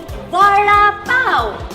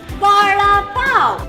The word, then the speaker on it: Vada Pav: Vada Pav. One more time. Vada Pav. And if you've read our Mumbai book, Vada Pav is something that's mentioned in the book. So what is Vada Pav?